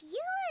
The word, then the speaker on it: Eula: Okay, I'm glad that in the game they actually pronounce her name as Eula, because I've seen some tweets about, oh, she's a German character, so she's gotta be pronounced German, and I don't think